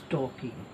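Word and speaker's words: talking: सो आई वॉज टॉकिंग यहाँ पर लगाएंगे, आई वॉज टॉकिंग, टॉकिंग यहाँ पर एल साइलेंट है, टॉकिंग नहीं बोलेंगे, आई वॉज टॉकिंग आपसे।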